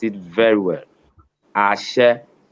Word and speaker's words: Ashe: Ashe, from Ashe. the beginning, it Yeah. comes down, then go flat.